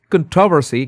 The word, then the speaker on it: controversy: And according to Google, the British pronunciation is controversy. Controversy. KTOY kto cont and American is controversy.